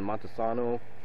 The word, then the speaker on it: Montesano: written down um like I said it's in Montano finally said it right and uh this uh